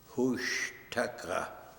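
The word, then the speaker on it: Hooshtucka: Hushtaka. H-O-O-S-H. Hush. T-U-C-K-A. Taka. Ushtaka. Yeah. And what does that mean? Couldn't pronounce his name.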